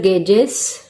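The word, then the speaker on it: gauges: बोल सकते हैं वैक्यूम गेजेस। ऑल्सो गॉजेस भी बोल सकते हैं, इसको गॉजेस भी बोल सकते हैं, गेजेस भी बोल सकते हैं। इस प्रोनाउंसिएशन को मैं गेज बोलती हूँ।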